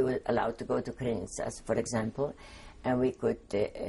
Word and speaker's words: Krynica: Krynica, K-R-Y-N-I-C-A. You would pronounce it Krynica, but the C is pronounced in Polish as Krynica.